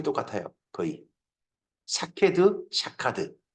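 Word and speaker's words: שָׁקֵד: 샤케드, 샤카드.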